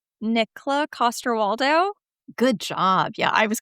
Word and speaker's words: Nikolaj Coster-Waldau: And I'm I mean, I I said so I'm going to Hopefully I'm going to pronounce his name correctly. I like Nikolaj Coster-Waldau.